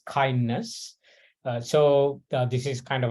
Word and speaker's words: KINDNS: going to be on a tool called kindness uh we'll pronounce it as kindness so this is kind